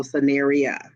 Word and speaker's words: Scenario: She said it's Scenario with the A, so Scenario.